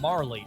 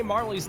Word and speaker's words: Marle: Is it Marl or is it Marley? When I was a kid, I always said Marl. And then I heard somebody who spoke Japanese say Marley, and I went, oh, I must have been saying it wrong my entire life. And then it just stuck. And then I found out that, well, it's not exactly a consensus.